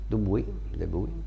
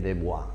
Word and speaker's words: Dubuis: Della collezione Matchmore di Roger Dubuis, l'ho pronunciato bene oggi, eh? Dubuis, no, perché leggendolo così io mi veniva a dire Dubois, no? Chissà perché, invece Dubuis, perché qualcuno di voi che conosce il francese mi ha corretto.